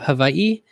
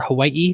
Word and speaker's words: Hawaii: on the beautiful island of Hawaii, and or Hawaii. People argue about if the W is a V.